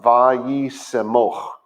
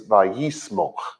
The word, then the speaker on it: vaYiqra: But the word would have been pronounced vaYiqra, where now it's pronounced, and I'm guessing because I don't do the modern very well, but I think it's vaYiqra, which is just a very lazy, very slurry, not slandery, that's the wrong word.